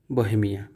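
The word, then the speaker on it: Bohemian: देखिए बोहेमिया बी ओ एच ई एम आई एन बोहेमिया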